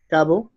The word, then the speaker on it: cabo: Okay, so if you notice, these words, also like tesis, caravana, cabo, they have the strength in the penultimate syllable, the second to last syllable, right?